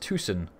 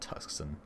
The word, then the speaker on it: Tucson: It's pronounced Tucson, not Tuscan.